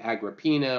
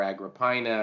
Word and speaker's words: Agrippina: here, a woman named Agrippina or Agrippina, I've heard it pronounced both ways, who was his niece.